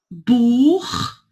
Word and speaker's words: Buch: Então, assim, depois, CH, que vem depois de A, O, U, Buch, né? Tur, ele tem esse som 2, que é aqui, né? Dor. Dor, Buch, Ach.